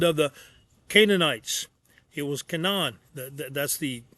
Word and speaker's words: Canaan: It was Canaan. That That's the correct pronunciation.